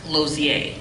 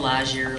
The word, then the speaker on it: Lausier: Well, my last name is Lausier, and it's pronounced Lozier. Okay. And I've been called Lazier, Lozier.